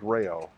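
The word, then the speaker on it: Rao's: if they've got that is it rail i guess somebody said it's pronounced rayo the the sauce and the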